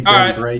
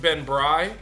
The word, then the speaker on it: Ben Brey: know Charlie It's pronounced Ben Bri b r e y don't ask me why don't ask me why it looks like Bray but but um figur